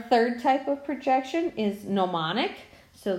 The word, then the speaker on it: gnomonic: type of projection is mnemonic so the G is silent you don't actually pronounce it gnomonic projection is made by